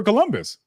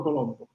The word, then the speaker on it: Colombo: But when you look this up, this guy's name is actually not Christopher Columbus. It's Christopher Colombo.